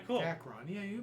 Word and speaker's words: Dacron: Dacron. Yeah, you pronounced it right.